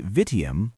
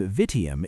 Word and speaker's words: vitium: But, as I think, you understand that this 3-syllable name that sounds when we say vitium, vice, is better than what